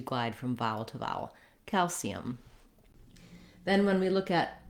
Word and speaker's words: calcium: And so when I'm saying calcium, I'm lengthening on that A.